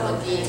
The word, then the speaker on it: Le Guin: I pronounce it Le Guin.